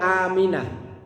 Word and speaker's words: amin: Lah kalau yang kita baca sehari-hari, kalau doa itu depan panjang, tengahnya mimnya yo panjang. Amin.